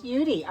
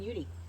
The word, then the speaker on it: Yudi: It's Yudi. Okay, thank you, because that's pretty easy, because Judy and Yudi, easy.